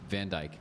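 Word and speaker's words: Van Dijk: It's D I J K. Yeah. That's why I was like, okay. Because because I was going to say the Jiky J, but but he's from the Netherlands, so it's Van Djk.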